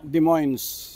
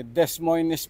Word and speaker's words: Des Moines: yun nga po e Des moines po o pagka sinulat mo Des pagkatapos moines ang pronounciation ah Parang Iyung Wilcon Depot di ba pero ang bigkas ay depo o ay so Ayan